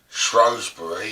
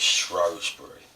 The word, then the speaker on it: Shrewsbury: Shrewsbury seems to be the correct way, since as the word was spelled S-H-R-O-O-S-B-U-R-Y. So it is Shrewsbury.